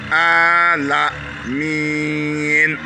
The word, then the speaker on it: Alamin: Ici, on tire le A. Alamin.